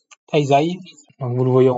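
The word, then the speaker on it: 滞在: Donc il me dit que ça se prononce taizai.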